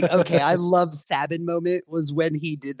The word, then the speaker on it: Sabin: he did that too I'm also glad you call him sabbin too cuz I've heard that name pronounced six different ways and uh you are the only other person who says Sabin oh dude that that